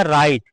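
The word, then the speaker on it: write: spelling राइट माने लिखना तो यहां पर इसको पढ़ा गया राइट कहने का मतलब यहां डब्लू नहीं पढ़ा गया जैसे होता है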